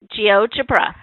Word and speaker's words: GeoGebra: GeoGebra.